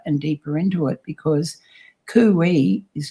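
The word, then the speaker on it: khuwi: and that spell k h u w i pronounced kuwi but in the translation of the egyptian it's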